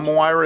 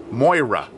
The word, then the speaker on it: Moira: along pretty good now Myra is pretty shy Moira that's it I'm trying to pronunciate it too much Moira she is she's